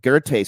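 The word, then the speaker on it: Goethe: was a guy 125 years later named Johan gerte g e t he e spelled goth but it's pronounced ger and uh he discovered that there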